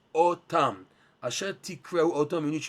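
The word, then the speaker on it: אתם: and verse number 37, the way it's written in the Torah is without the letter vav. We pronounce otam.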